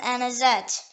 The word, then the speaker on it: anisette: root the next word is an asset acknowledged pronounced anisette it is filled and is ee ee t